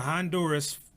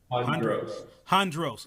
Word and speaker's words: Hondros: So the Honduras family, right? I'm not saying it right. I don't want to miss it. Hondros. Okay. My apologies, Hondros family.